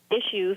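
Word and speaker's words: Ishues: to look him up his name is uh issues it's spelled i-s-h-u-e-s and he's he's coming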